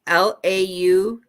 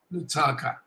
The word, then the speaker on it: Lautoka: So I'll spell it to you. It's Lautoka. Lutaka.